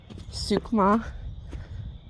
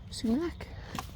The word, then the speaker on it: sumac: However, poison oak, poison ivy, sukma. Nope, that's not how you say it. Sukmeck. Suk sumac. Oh, that is very muddy though.